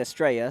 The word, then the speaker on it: Estrella: I was debating whether to say Estrella or Estrella. It obviously is the Spanish word for star, but wasn't sure. Sometimes people like to pronounce it a certain way. PA announcer said Estrella, so I will adopt that pronunciation as well, as that punt keeps on bouncing.